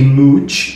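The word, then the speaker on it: Mouch: E também Wesley Mut, que antes eu lia como M, tipo como se fosse mouth, sabe, de boca. Mas na verdade a pronúncia é m porque é uma piada.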